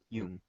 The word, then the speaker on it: Jung: know pronounce it y Jung spelled j n g m but it's a Yung right Yung there you go so that's a Oneness